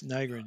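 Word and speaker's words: Nygren: And then Nigrin, is that how you pronounce it? Yes, Nigrin, yeah.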